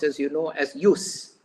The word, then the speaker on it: jus: justice is Jus s J us s is pronounced as you know as use J us s use use means the right